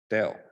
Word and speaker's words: del: in the past so this guy here is pronounced as dell a greek letter a nebula so now you